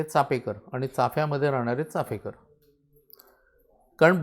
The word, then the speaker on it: चापेकर: कारण बऱ्याच जणांचं चाफेकर बंधू असंच उच्चारण ऐकल्यानंतर माझंच पुस्तक आहे चापेकर पर्व म्हणून, तर मला अनेकांनी विचारलं स्पेलिंग मिस्टेक आहे का म्हणून. म्हटलं चापेकरच बरोबर आहे, चाफेकर नाही.